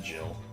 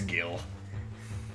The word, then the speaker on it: Gil: No, I don't pronounce it Jill. It's Gil.